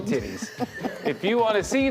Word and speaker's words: titi: Well, in a lot of places it's TT, but here in the greatest country on earth, Yeah. we're gonna call them titties.